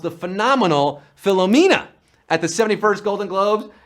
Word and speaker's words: Philomena: of the film that he was suffering from Philomania. Well, that's how Leonardo DiCaprio pronounced the phenomenal Philomena at the 71st Golden Globes, and we're down to 24.